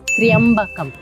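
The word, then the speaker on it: त्र्यम्बकम्: Some pronounce it as Triyambakam and some as Triyambakam, whereas the original pronunciation is Triyambakam. Triya is one letter. It's a Sanyukta Akshara, so it's a combination of three different consonants, T, R, Y and A, Triya. So it is not Triya, it's Triyambakam, which means the three-eyed one.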